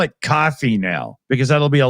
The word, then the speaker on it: Ko-fi: Nobody knows how to say that. It turns out that they actually meant it to be pronounced coffee. They're literally just playing on buy me a coffee, right?